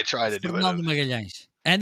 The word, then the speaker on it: Magalhães: Magalhães.